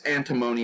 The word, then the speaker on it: antimony: to say but it's it's antimony if you're in America that's the typical pronunciation but any one of